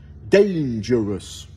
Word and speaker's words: dangerous: de voyell M m pareil pour un autre mot qui est souvent mal prononcé dangerous donc on entend l'accentuation que sur la première syllabe d' une règle générale